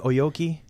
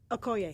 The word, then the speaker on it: Okoye: How do you pronounce that general's name? Oyoki? Okoye. Okoye. Okoye.